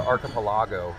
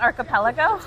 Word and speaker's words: archipelago: had a friend that lived out on the archipelago. I realized I'd been mispronouncing it my whole life. It's not archipelago?